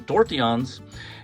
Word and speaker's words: tortillon: Now, the tortillons, or the French pronunciation, tortillons, it only has one point, and it's hollow through this area.